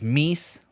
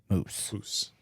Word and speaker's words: moose: Those Midwest sad boys, they're just and those meese, those multiple meese. It's not the correct pronunciation of the multiple of moose, which is just moose.